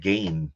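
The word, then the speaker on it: Gein: the um in about Ed well actually correctly pronounce Ed gain but not not him but uh up in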